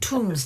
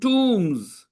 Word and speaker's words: tomb: She has discovered some important ancient tombs. How do you pronounce that word? How have you been pronouncing it? The correct pronunciation is tomb. B is silent and O is pronounced U here.